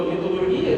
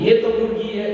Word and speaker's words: металлургия: В целом, когда мы с вами говорим о металлургии, то металлургия это у нас, и кстати, равнозначно в русском языке используются два ударения, и металлургия, и металлургия является правильным с точки зрения русского языка.